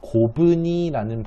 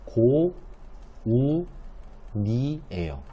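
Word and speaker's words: 고우니: 이걸 활용할 때 고분이라는 발음을 하나요? 고분이 안 하시죠? 고분이가 아니고요, 올바른 활용은 고, 우, 니예요.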